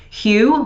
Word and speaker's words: Hu: snack alternatives as well hugh which is spelled hu great chocolate they have